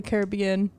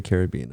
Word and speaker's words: Caribbean: that's kind of cool and you say caribbean i say caribbean caribbean pirates of the caribbean it's like a tomato tomato is it weeds i say caribbean am i saying it wrong no there's people that say caribbean my bad sorry i